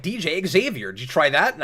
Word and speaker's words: Xavier: In certain cases, I think that name actually is pronounced that way, but particularly with Xavier, it's called the X-Men. You gotta hit the X.